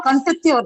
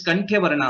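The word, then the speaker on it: कण्ठ्यवर्णः: Sorry, Kantya Varna or Kantatya Varna? What is that? It's just Kantya Varna or Kantatya? It is Kanthya Varnaha.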